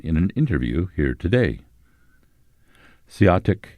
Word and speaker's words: Seeahtic: Seeahtic is a Klallam pronunciation. All other tribes pronounce it Seeahtico.